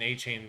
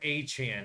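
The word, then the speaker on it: Achane: like, They made Mostert and A-Chain look. Oh, I'm sorry, A-Chan is the way he wants it pronounced now yeah, after the game.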